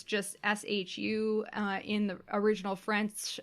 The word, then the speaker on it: choux: from choux pastry so in Japanese it's just Shu in the original French its CH o UX